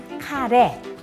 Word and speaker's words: 카레: Actually in Korean we say 카레 rice because curry we pronounce 카레.